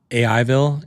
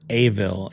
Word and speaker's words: AIville: One is you mispronounced or misread AIville. It's never Aville. It's spelled AIVILLE.